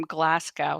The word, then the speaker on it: Glasgow: Junior is on saying hello from Glasgow, Scotland.